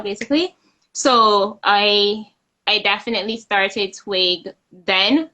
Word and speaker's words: TWiG: of what I want TWiG to be like, I was telling her I just know that I have TWG. And she Right. pronounced it twig. I said, but there's no I.